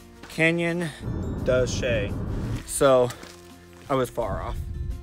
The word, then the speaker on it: Canyon de Chelly: That's not how you pronounce the name of the canyon. The canyon's name is Canyon de Chelly.